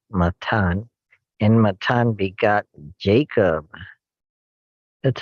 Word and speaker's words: Matthan: Eleazar, and Eleazar begot Matan, as spelled Matthan, Matan, and Matan begot Jacob.